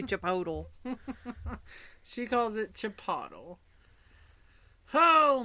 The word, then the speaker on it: Chipotle: I've got a coworker that calls it Chipotle. It should be Chipotle.